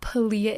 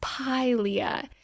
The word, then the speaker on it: Pilea: It's not Pilea, it's Pilea. So we're doing a Pilea care guide today. And this was actually a request by Justin on Instagram. Shout out Justin. He has a Pilea mollis, which is a